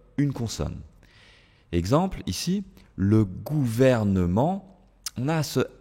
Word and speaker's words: gouvernement: n et ce M je ne peux pas dire le gouvernement le gouvernement d'accord pourquoi bah parce que c'est difficile à prononcer d'accord la combinaison des lettres ici fait que c'est difficile de supprimer ce e le gouvernement ok directement